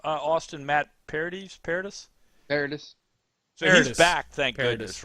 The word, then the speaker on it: Paradis: By the way, how do you pronounce his name? Austin Matt Paradis? Paradis.